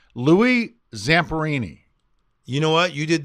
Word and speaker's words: Louis Zamperini: and tell the listeners the best way to pronounce his name now you're putting me on the spot see it's Louie Zamperini you know what you did that flawless did